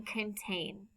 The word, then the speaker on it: contain: There are two syllables in contain. In the second syllable, two vowels A and I are together. The vowel A makes a long sound, A, and the vowel I is silent.